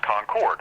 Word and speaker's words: Concord: in the case of North Carolina is actually pronounced Concord that's my hometown Concord North Carolina and when